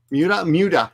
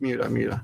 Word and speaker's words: Miura: Miura. Yes, Miura. Okay, so I'm bad at pronouncing that one.